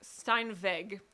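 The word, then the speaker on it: Steinweg: venue the brand was Stein vague that's how you would pronounce it in German so it's spelled esti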